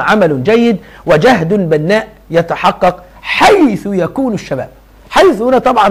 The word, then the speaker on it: حيث: بس هو عليها مبني، طبعا مبني على ايه؟ على الضم، حتى نطقها حيث.